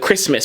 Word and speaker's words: Christmas: a Christmas said of Christmas we say Christmas right Christmas so the t is not necessarily pronounced but there they almost